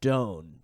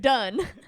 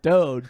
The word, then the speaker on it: Doan: about my actor's access is that is actually when I use my stage name, which is Memphis Doan. Memphis, like D-O-M-E or D-O-N-E, but pronounced different than done.